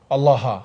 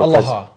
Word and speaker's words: Allah: Allah. It's a different pronunciation Allah. because it wouldn't have the doubling or the shedda on the lam.